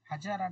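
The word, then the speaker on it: Hazara: হাজারা না হাজরা। স্যার আপনি প্রথমটা কি বললেন স্যার? আচ্ছা, এই প্রথমটা স্পেলিংটা আমি স্পেলিংটা বলছি, উচ্চারণটা কি হবে? HAZAR, হাজারা না হাজরা? হাজারা হাজারা। হাজারা, তাই তো, ঠিক আছে।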